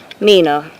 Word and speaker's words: Nina: Nina. Rhymes with Tina.